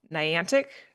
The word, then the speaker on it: Niantic: Niantic, is that how you say it?